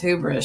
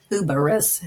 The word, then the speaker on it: hubris: argument the truth fact she mispronounced as hubris she says who Burris do Burris that's false